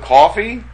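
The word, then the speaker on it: Kotb: It sounds like coffee. So coffee. Coffee, but you say it all together. Hoda Coffee.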